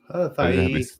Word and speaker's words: Hawaii: Hawaii.